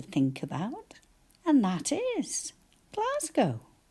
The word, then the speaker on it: Glasgow: about and that is Glasgow. How many syllables? class go g a and you're quite right it does sound like z but we write an s and then g o